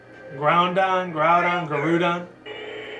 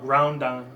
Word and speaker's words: Groudon: I know he says it like Garudon, but me, I've always called it Groudon before when it first came out.